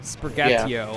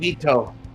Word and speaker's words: Sprigatito: Yeah, the new grass type they're showing off for Gen 9, Sprigatio, I think it's pronounced. People have been liking it. Sprigatito.